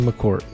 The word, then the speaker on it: McCourt: And today I'm pleased to be joined by Joshua McCort.